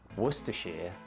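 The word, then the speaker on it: Worcestershire: You're looking at worershir sauce.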